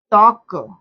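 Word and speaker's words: talk: अब यहां पर देखिए साइलेंट वर्ड जैसे वक टॉक और हाफ ऐसे कुछ ऐसे वर्ड्स होते हैं जो इसमें देखिए इसमें एल क्या है?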